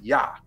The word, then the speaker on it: Yah: You can put a J there if you wanna. You're still gonna say Y. You're still gonna say Yah. You're still gonna pronounce it Yah.